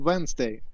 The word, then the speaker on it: Wednesday: writing at w-e-d yeah the d in there is a bit confusing because you don't hear it yeah it is